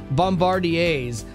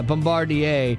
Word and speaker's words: Bombardiers: So she launched the Scarf Bombardiers. It's French. It's hard to... Whoa. Yeah, Bombardier. Bombardier. But it's spelled I-E-R-S at the end. It's confusing.